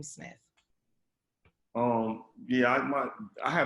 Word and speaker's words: Smith: but and i always it's spelled the correct way right smith but i've always pronounced it with like smith with two f's you know what i'm